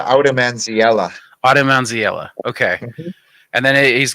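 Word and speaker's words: Oudemansiella: one more time please I pronounce it aom manella Aela okay and then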